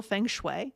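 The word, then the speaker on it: feng shui: But if you pronounce it differently because we pronounce it as closely to the original Chinese in English as we can with our American mouths.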